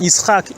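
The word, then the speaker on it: יצחק: listening to them but the name Isaac pronounced east Hawk is actually like to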